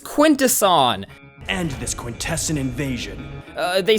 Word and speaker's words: Quintesson: Stephens to voice lockdown during his prep period perfect and he could not pronounce that word I was like quaint to son he was like quintesson I was like no no no Quintus on Quintus so at that point I